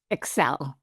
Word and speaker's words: ECSEL: Excel.